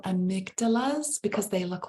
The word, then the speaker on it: amygdala: on the count of three repeat the word amygdala amygdala so One Two Three Amigos thank you again